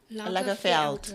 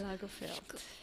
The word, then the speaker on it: Lagerfeld: Lagerfeld. Lagerfeld.